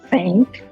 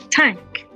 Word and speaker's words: thank: And that is why sometimes we mistakenly pronounce the word thank as tank, and the word dan as dan.